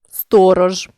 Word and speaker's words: сторож: рідко та навіть більше у кінці слова та перед глухим дзвінкі приголосні не оглушуються у більшості слів рибка ложка сторож вимовляємо дзвінкі приголосні у цих словах виразно і чітко не оглушуємо їх але є 5 слів